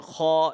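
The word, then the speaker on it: خ: And Ghayn comes from the top throat. from this place, from this very place, the letter kha is also produced. However, kha and ghain, despite of the fact that kha and ghain being heavy letters, both of these, however, kha is more harder and ghain is a softer version. Okay, ghain will be read softly, whereas kha is read hard.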